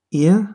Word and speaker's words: ihr: Note that the pronunciation of this word is close to the British pronunciation of the word ear. Ihr. The R at the end is not pronounced.